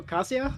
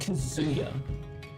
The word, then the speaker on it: Kazuya: Oh Yo, Kasio. Yo, what's up, man? Devil Jin Orochi. Chris, it's it's pronounced Kazuya.